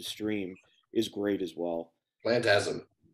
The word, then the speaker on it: Plantasm: Plantasm. Am I saying it right? It's Plantasm, right? Yeah. Yeah. Not Phantasm, not to be confused with the mega franchise, Phantasm.